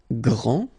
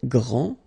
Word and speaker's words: grand: This final D is not pronounced. Okay, so grand, and then the feminine form, grande. Okay, so you put this E, and then you get the sound D, D, grande.